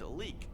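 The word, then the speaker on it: Leyak: Moving into number 4, we have the Layak, or in Indonesia, people call it leek. They don't like to pronounce the Y.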